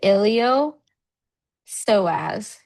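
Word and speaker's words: iliopsoas: So it's a ilio soaz. So the PS is silent.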